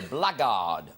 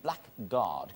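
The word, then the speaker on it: blackguard: guard which is a blackard a scoundrel you know pronounced blackard you never thought of that did you were thinking black guard Chris you are one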